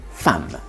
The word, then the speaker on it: femme: À l'oral, comme dans le mot femme, qu'on écrit avec un E, qu'on prononce pourtant comme un A.